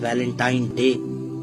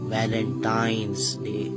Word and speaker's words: Valentine's Day: है अब आप इस वैलेंटाइन डे के नाम पर गौर करें इसे जो आम कहा जाता है यह वैलेंटाइन डे है लेकिन हकीकत में जो इसका प्रोनाउंस एशन है वह है वैलेंटाइंस डे य वैलेंटाइन वाला दिन